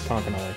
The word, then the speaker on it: Conconully: You know, I've heard it pronounced eight different ways from Sunday, so it's something. It starts with a C. I trusted my robot overlords, Google, to tell us what how to say it, and they said Conconully.